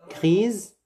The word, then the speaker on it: grise: Gris, sans S. Grise, comme Z. On prononce le S comme Z.